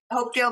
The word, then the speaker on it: Hopedale: Hopedale, Massachusetts, right?